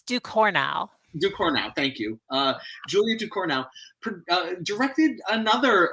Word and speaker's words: Ducournau: The director, Julia's last name, I'm not going to even try to pronounce. It's Ducournau. Ducournau, thank you.